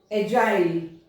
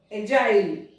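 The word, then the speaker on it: agile: अब हम लोग देखते हैं जी के बाद में आई, एजाइल, एजाइल, जिस्ट, इंजीनियर, जी आई आया, यहाँ पे देखिए आई आई आई, तो इनकी साउंड क्या हुई, ज।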